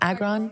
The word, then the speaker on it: Agron: How do you pronounce her last name? Agron.